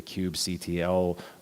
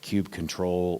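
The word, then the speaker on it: kubectl: would be at the the cube CTL or cube control or cube cuddle or cube cuddle everybody seems to have a slightly different emphasis and how they pronounce this it's just the command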